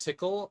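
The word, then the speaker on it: Tcl: into my diamond tile file pronounced tickle or as an an initialism should I say tickle instead of tickle I guess that's what weip suggests I don't know maybe they're trolling though you think they're trolling ousterhout's original 1990 yusik paper did actually specify the pronunciation as the word tickle well fair enough um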